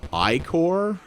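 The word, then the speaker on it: ichor: tail i guess yes yes i do magical icker that's pronounced i-core oh choose your oh that's right these are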